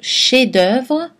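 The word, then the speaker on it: chef-d'œuvre: mémoriser aussi le mot chef-d'oeuvre dont on ne prononce pas le f finale mais qu'on prononce dans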